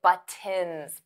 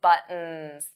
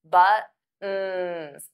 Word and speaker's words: buttons: I always say buttons, buttons, buttons, buttons. So those T's become flat T's. We don't push out the air. Now you can absolutely say buttons.